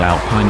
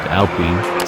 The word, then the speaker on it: Alpine: If there's a hint of petrol in your veins, you might recall the original Alpine A110.